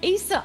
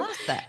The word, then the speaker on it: Åsa: It's Åsa. The A with a round thing is an O in Swedish. So, it's only in Sweden, so I don't blame you. Åsa.